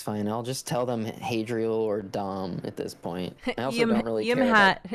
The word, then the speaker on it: Hadriel: or whatever about yourself i was like it's hadrial and so since then i think he's tried